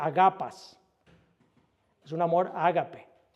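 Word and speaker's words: ἀγαπᾷς: una palabra griega que se que se se pronuncia agapas."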